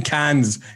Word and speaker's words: Cairns: sense i think as the place that isaac's saying is spelt c c-a-i-r-n-s but australians refuse to use the letter r when saying the word cairns for some fun it's not hands you're seeing cans you're seeing literally cans yeah i mean it